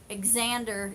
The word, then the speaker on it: Xander: Xander is how you pronounce my name. Okay. Oh, whoop, whoop. Sorry, I accidentally hit a wrong button there. Xander.